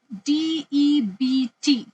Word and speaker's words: debt: first class is it D EBT how do I pronounce it de de no the B is silent all right you say